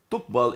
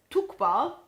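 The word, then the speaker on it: تُقْبَلُ: Now, the word here is yukbal, but that is the wrong grammar because that is male. It should not be male. It should be female here. Okay, so in Ruh version of the Quran, Surah 2, verse 48, it's the word is tokbal. Or tukbal instead of yukbal. Yes. So it is corrected. Yes, tukbal is for the context of the female.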